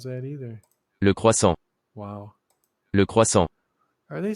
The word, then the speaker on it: croissant: Le croissant. Are they saying croissant? Well, it's not really. It sounds like an R.